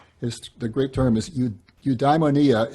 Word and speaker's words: eudaimonia: great term is you eudaimonia it's either eudaimonia or eudaimonia i've heard both pronunciations so eudaimonia sometimes translated